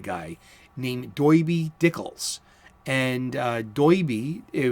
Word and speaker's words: doiby: dickles and doiby it was spelled in the comic books d-o-i-b-y doiby and it was for his hat he wore a derby-style hat and that's how the in the gotham might the gothamite would pronounce it a derby hat as a doiby hat you get it you